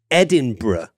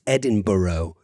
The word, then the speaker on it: Edinburgh: get yourself to Scotland, it's important to pronounce this city Edinburgh, and not, as a lot of people in the United States say, which is Edinburgh.